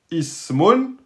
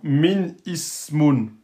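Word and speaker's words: اسم: Eh bien, si c'est précédé par un mot ou par une lettre, je ne le prononcerai pas. Je ne dis pas, par exemple, min ismun. Min ismun. C'est pas possible.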